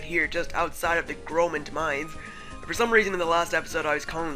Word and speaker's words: Groment: For some reason, in the last episode, I was calling the city Gormand City, even though the R is clearly before the O. So, yeah, my pronunciation sucked there.